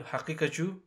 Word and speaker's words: Haqiqatjou: And it's no other than Brother Daniel Haqiqatjou.